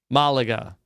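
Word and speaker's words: Málaga: Oslo to Malaga okay did I say it right I would say mala Malaga okay so they're flying along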